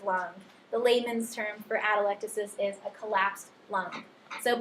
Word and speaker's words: atelectasis: damages the Alvi and causes them to collapse atelectasis that's how you pronounce it for a long time I was was pronouncing it atelectasis and then I was watching Gray's Anatomy one